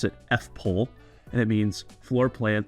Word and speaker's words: FPOEL: acronym for it FP o e l we pronounce it fple and it means floor plan on every listing